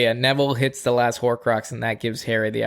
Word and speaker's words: Horcrux: Yeah, so Neville pretty much defeats the last Horcrux. How do you say it? Horcrux, yeah.